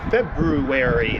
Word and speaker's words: February: it is uh thursday february february that's the proper way to say it thursday february 4th and it is um looks like 22 minutes after 11.